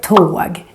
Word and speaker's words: tåg: For example, in the word tåg, train, here you can hear the long version of the O because the O is followed by just one consonant, the G.